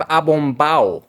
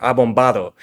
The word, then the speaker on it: abombado: And the first word on our list, we have abombado or abombado.